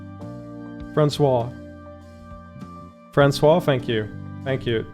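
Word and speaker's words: François: I've I've ran into this first name 800 times and I still don't know how to pronounce it. Francois.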